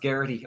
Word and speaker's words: Geraghty: we got on here so it's an Irish name and it's gity pronounced gity in it's okay awesome